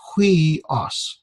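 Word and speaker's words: υἱός: This is a diphthong, the upsilon, iota, and got the rough breathing. So with the rough breathing, it'd be like the H, we. So it's huios.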